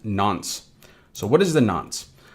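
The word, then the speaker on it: nonce: Now moving on from that we have this non- n pronounced nons.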